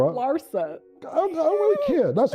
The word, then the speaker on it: Larsa: So, I think a lot of females Lissa Pimpin and them don't even You always say Lissa, but it's okay. It's Laura Larsa.